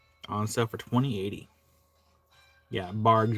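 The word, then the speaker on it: Barq's: Yeah, Bargs with a hard G. We don't call it barks around here. I will die on the hill.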